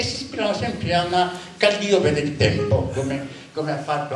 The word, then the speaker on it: Calliope: del Purgatorio, dice qui Calliopea quanto su Dante è costretto a mettere l'accento per l'esigenza di rima, non dice Calliope, dice Calliope, non a quanto su